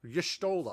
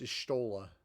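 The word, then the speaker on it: Y'shtola: Yestola.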